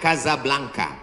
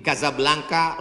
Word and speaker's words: Casablanca: kuliah nama negaranya Maroko ibukotanya tulisannya Casablanca cara bacanya Kadzab langka Kaza artinya rumah Blanca artinya putih Kasablanka rumah warna putih bahasa